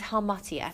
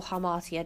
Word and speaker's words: hamartia: use for this is his hamartia or hamartia depending on your pronunciation and that is what